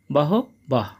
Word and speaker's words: বহবঃ: আমরা জানি শিক্ষার্থী বন্ধুরা যদি বিসর্গ কোন বাক্যের মাঝে থাকে তার জন্য অর্ধেক হ উচ্চারিত হয়। সেইজন্য এখানে হবে বহ বহ।